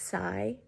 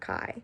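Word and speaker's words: Cai: But also I realized I have been pronouncing Juliet's last name wrong, and I'm so sorry. It's Sai, not Kai.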